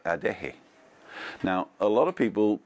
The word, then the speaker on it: Adeje: a foreign accent on all you have to do is to pronounce each letter in Spanish so a deck hey is a de hotter which is J and E again so a deck hey is like a day hey now a lot of